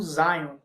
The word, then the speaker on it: Zion: A língua inglesa pode ser pronunciado como Zion.